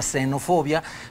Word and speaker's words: xenofobia: como gen o fobia escrita con x se pronuncia xenofobia pero es una fobia